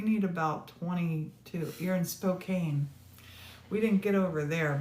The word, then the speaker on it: Spokane: Oh, Nene, we are having it's Spokane. Thank you for that, Pam. Spokane.